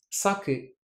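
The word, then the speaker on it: 鮭: Je vous donne un autre exemple. Sake, c'est le saumon, et sake, c'est l'alcool. Hashi, ce sont les baguettes avec lesquelles on mange. Et hashi, c'est le pont. Donc voilà, tant de mots, il y en a plein d'autres, qui paraissent identiques, mais qui ne le sont pas quand on fait bien attention à l'intonation.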